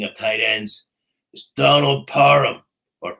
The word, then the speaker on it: Parham: And my double deep danger dive of the week, speaking of tight ends, is Donald Parham or Parham.